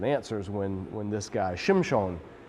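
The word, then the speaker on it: שמשון: when when this guy Shem Shawn is his name in Hebrew we say Sampson Shem Shawn is gonna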